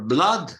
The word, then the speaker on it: blood: For blood and flood, they're pronounced blood and flood.